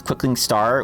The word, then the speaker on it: Quickling Star: from argive of japa I decided that's how we pronounce quickling star we pause for a second the pause is part of it you got to let that name set oh yeah it's a